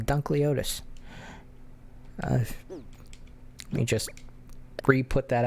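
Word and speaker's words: Dunkleosteus: No, I was right the first time. Dunkleotis.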